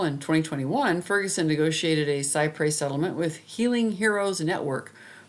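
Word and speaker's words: cy pres: a cypre settlement it's spelled Cy p s pronounced cypre it means trying to get as close as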